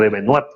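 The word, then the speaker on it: Alain de Benoist: porque el famoso Pacto Verde no es más como lo dicen este filósofo político francés Alain de Benoit, o de Benoit, como se pronuncia en este caso.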